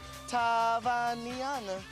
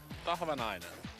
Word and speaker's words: Tahvanainen: Tahvanainen So, it's easy if you split it in half like Tahva Nainen.